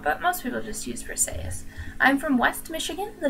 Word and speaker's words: Briseis: Some people pronounce it Briseis, but that's kind of weird sounding and makes you squish your face up a little bit, so I prefer Briseis.